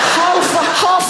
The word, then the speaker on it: half: Half a hour. Even half has an L in it.